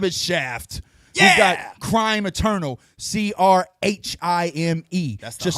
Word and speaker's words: Crhime: We've got Crime Eternal, CRHIME. That's the Just homie. Yeah, that H is silent, I think.